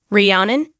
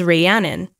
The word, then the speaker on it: Rhiannon: English it's pronounced as Rihanna Rihanna whereas in British English it is pronounced as Rhiannon Rhiannon Rhiannon mom what